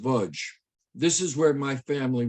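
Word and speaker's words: Łódź: gates of a ghetto the lodge ghetto pronounced budge this is where my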